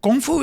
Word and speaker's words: kung fu: Kung fu is no joke, and you don't say it right. It's kung fu.